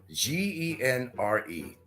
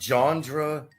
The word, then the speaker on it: genre: this word so much genre g-e-n-r-e okay it's not genre like you know uh Nico's experiences and some other people Popeye can't even pronounce it either it's genre g-e-n-r-e not genre there's no such word